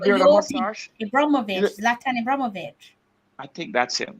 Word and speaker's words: Zlatan: How do you pronounce that name? Zlatan.